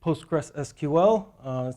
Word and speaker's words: PostgreSQL: Some people pronounce it PostgreSQL, some pronounce it Postgres.